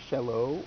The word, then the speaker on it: shallot: Anyway, shallots, or sometimes Shallot, or a couple different pronunciations. I tend to go with Shallot, because it separates it from a particular piece of medieval hardware, the sallet, which is a helmet.